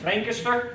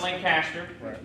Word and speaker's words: Lancaster: uh playhouse in pennsylvania lancaster that's how you say it not lancaster lancaster lancaster uh and